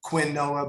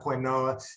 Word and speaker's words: quinoa: It's amaranth and quinoa, which looks like it's spelled quinoa, but it's not quinoa. It's actually pronounced quinoa.